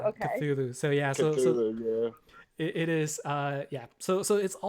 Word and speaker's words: Cthulhu: But I think it's called Cthulhu. So like the C is a hard K Cthulhu? sound. Yeah, Cthulhu. Yeah, Okay. Cthulhu. So yeah. So Cthulhu, yeah.